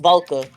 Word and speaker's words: Volka: I mean, it's pronounced Volka, but like it sounds like a.